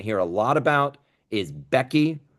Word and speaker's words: BEQI: Another acronym that you are going to hear a lot about is Becky.